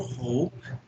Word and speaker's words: hope: Aí a dica aqui, ó, lembra que a gente tinha falado que quando começa com H, a gente vai pronunciar um R, igual a gente fala rato, então hope, né?